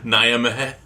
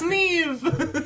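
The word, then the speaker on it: Niamh: Nyameh. It's Neve! Not spelled like that.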